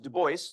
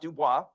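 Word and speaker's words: Du Bois: tell you that uh web Deo pronounced Deo not duah something that was very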